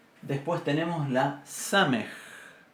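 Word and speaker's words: סמך: Después tenemos la samej. Samej, que se pronuncia igual que nuestra S.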